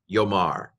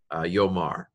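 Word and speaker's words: יֹאמַר: And in fact, in this particular situation, you don't have to know this, the aleph is quiescent, which means it goes quiet. Again, so we just say yo, yomar, yomar.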